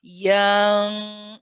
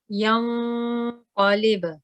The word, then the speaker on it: ينقلب: So you don't want to prolong the ya sound at the beginning and say yang. You see, the ya is becoming too long. Keep it ya, yang, qalib. ينقلب.